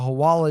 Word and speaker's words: hawala: in part, are used in what's called the hawala," if I'm pronouncing that right.